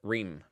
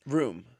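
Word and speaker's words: Reum: But so that's how I remember because they're the Ream brothers. Room. Ream. Room. Ream. Okay. Is it Room? It's R-E-U-M, so I assume it's Room. No, but I think they pronounce it Ream.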